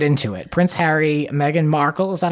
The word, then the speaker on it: Meghan Markle: Prince Harry, Megan Markle, is that how you say her name?